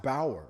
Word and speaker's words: Bauer: But Bauer, it's pronounced Bauer, by the way. You pronounced it wrong there, Amy.